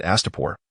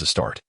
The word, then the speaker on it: Astapor: Each time he read Astapor, he inadvertently pronounced it as a start.